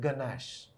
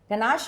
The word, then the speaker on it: ganache: The pronunciation of certain chocolate-related words. Let's start with ganache.